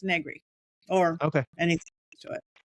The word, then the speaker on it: Negri: Negri. Negri. It rhymes with nothing.